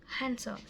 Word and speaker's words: Hansel: Hansel is H sound. So we pronounce H in the Hansel, not like hour, like hour. We pronounce hour, no, but Hansel, we pronounce the H, Hansel.